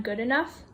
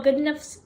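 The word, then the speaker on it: Goodenough: idea in 1980 john good enough i'm sorry if i pronounce his name wrong the way that i found to pronounce his name was john good enough in 1980 he tried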